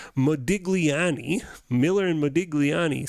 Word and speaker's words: Modigliani: debt so here's what Miller and let me pronounce the name right Modigliani Miller and Modigliani say they say whatever the